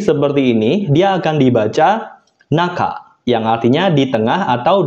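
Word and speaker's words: 中: Oke, kemudian untuk kunyominya itu ada satu, yaitu naka, menyatakan artian tengah. Kemudian untuk ongyominya itu ada dua, yaitu chu dan ju.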